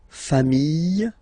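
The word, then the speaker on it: familles: Okay, final s not pronounced fami singular form fami plural form same pronunciation s not pronounced.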